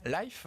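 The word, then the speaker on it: Lyf: mois la super rap française life il le prononcé à l anglaise historiquement spécialisée dans le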